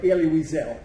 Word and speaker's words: Elie Wiesel: And that's where I have Elie Wiesel, which is the way you pronounce his name, okay?